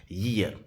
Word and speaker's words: year: जो YEAR है इसका प्रोनाउंसिएशन होता है ईयर, ये से स्टार्ट होता है, ठीक है।